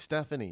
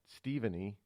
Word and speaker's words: Stephanie: Um you know s st it's it's Stephanie, not Stepheny, right?